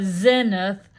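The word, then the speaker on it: Senath: way out in the middle of nowhere um in southoutheast Missouri um is a community called Senate pronounced uh uh uh Zenith that that has a most uh uh peculiar and famous ghost.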